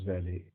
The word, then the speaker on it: valet: This is valet. We pronounce it as valet, a male attendant, carrying on his arm a big fur coat.